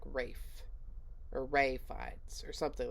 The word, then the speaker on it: Ralph: reactions and everything because it looks like Ralph but I think it's pronounced like Rafe array fights or something